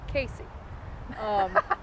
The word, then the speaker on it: Cayce: You have Casey, which it is spelled unlike the way it is pronounced. It's Cayce. It's not Casey. It's not Sacy, anything like that. It is Casey.